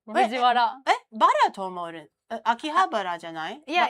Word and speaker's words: Fujiwara: 発音の並びか。と、藤Wara instead of Fujihara. Wait, I thought it was Bara. Right. Fujiwara.